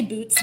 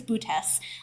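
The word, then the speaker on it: Boötes: I want to say boots, but I know that's not it. I believe it's bootes.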